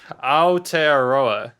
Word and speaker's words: Aotearoa: word here i don't even know how to pronounce it a-o-t-e-a-r-o-a aotearoa okay aotearoa yes land of the long white